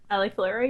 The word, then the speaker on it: AliFluro: If I pronounced that right, did I pronounce it right? AliFluro?